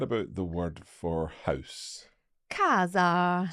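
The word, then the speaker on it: casa: the word for house Kaza so it's a hard C Sound Kaz so it's followed by an e there so it's a hard sound and an example of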